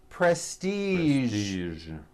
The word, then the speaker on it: prestige: go now there are only a few words that have the voiced J sound at the end a few of these words are beige the color beige the word massage and the word prestige okay now that